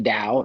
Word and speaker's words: Dao: so it will not change it's Dao it's pronounced the Dao it's the way uh and if you don't